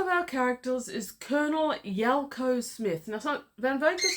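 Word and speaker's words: Yalco: Another of our characters is Colonel Yelko Smith.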